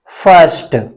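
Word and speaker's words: first: यहां पर क्या है, एफ आई, एफ आई को हम पढ़ेंगे फ, यानी साइलेंट रहेगी, अ का साउंड आएगा यहां पर, फर्स्ट।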